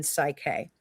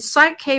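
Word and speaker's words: Psych-K: And Psych K, by the way, is spelled P-S-Y-C-H, like psych, like psychologist, psych, P-S-Y-C-H dash K, like K for Kellee.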